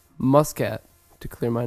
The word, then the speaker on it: Muscat: of Oman Oman um I believe it's Muscat pronounced Muscat Muscat to clear my name namami zaka we're so